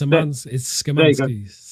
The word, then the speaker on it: Szymanski: It's Szymanski.